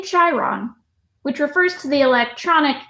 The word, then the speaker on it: Chiron: Pronounced Chiron. Huh. Thank you. That makes sense. Yeah. Well, we're learning here. Thank you for Thanks. that. I'm frankly amazed I remembered the word at all. Hard C, Chiron.